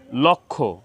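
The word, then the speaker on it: লক্ষ্মী: ফলা সংযুক্ত হয়েছে তো যুক্ত ব্যঞ্জন বর্ণের সাথে ম ফলা সংযুক্ত হলে সে ম ফলার কোন উচ্চারণ হয় না তো এখানে সূক্ষ সূক্ষ লক্ষ লক্ষী লক্ষণ লক্ষণ যক্ষা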